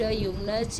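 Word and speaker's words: Jung: तो ये ज्यूंग लिखा जाता है, प्रोनाउंसिएशन जो है इसका यूग किया जाता है।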